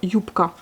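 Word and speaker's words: юбка: un peu sourde, donc yupka. Mais elle s'écrit bien B. Donc on écrit bien le B, mais ça se prononce comme un P.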